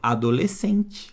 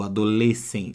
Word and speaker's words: adolescente: aqui não aqui sim porque eu não escuto esse ex como na palavra por exemplo adolescente não é eu não escuta que ele é esse do Adolescente ó adolescente eu não falar inglês sente não cuidado tá por exemplo então